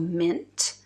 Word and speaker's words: M.INT: house uh it's an Italian House called mint I have these little samples that spelled like m dot int and then the names